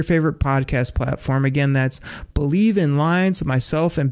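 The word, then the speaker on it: Bleav: That's called Believe, and that's spelled B-L-E-A-V in Lions, Believe in Lions with myself, and Lions legendary safety, Benny Blades.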